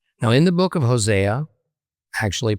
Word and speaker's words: Hosea: Now, in the book of Hosea, actually pronounced Hosea, chapter 1, we get a curious story about Hosea being ordered to marry a harlot, prostitute named Goomemer.